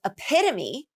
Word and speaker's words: epitome: epitome epitome okay so with epitome the primary stress is on the second syllable now we're going to